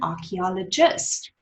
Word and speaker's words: archaeologist: Let's break it down. Archaeologist. One more time. Fantastic. Archaeologist. 5 syllables. Okay, quickly. Lovely. Remember, when you say archaeologist, you need to feel the R here, R in the bottom of your throat.